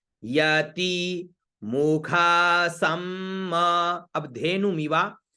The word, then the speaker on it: धेनु: प्रति, धेनु, धे और नु, तो क्या हुआ? धेनु, धे नु, नु छोटा है तो नु छोटा उच्चारण, धेनु।